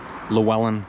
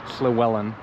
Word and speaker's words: Llywelyn: the Welsh were, like Llewellyn or Llywelyn the Great. Welsh is quite tricky. When there's a double L, it's like pronounced, which is hard for me to do. So Llywelyn the Great.